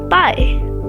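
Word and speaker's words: pai: In Portuguese, this is pie. Pie. Like pie that you eat but shorter.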